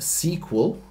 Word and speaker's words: SQL: series dealing with SQL some people pronounce that sequel it doesn't matter how